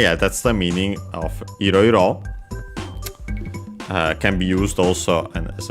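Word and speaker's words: いろいろ: Iroiro, on the other hand, is unaccented, so be careful.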